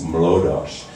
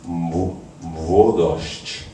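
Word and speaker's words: Młodość: and try to explain to me how to pronounce the title of the song and the refrain, which we were inaccurately singing as Mlodosz, but it's Mwodosz.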